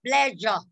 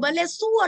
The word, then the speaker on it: pleasure: Từ đây mình nói là pleasure. J. Âm J. J. Pleasure. Không ai đọc là bà lê xua đấy các cụ nhá. Các cụ thấy từ xua, các cụ đọc là bà lê xua, chết tôi đấy các cụ.